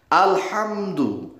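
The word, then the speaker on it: الحمد: Kalau dibaca pakai ha, alhamdu. Tetapi kalau dibacanya pakai ha, artinya kematian. Ya coba, makanya ngaji Al-Quran itu wajib di depan guru.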